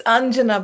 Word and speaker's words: Anjana: Is it Anyana or Anjana? Did I mispronounce your name? I'm sorry. It's Anjana, but all pronunciations are good for me.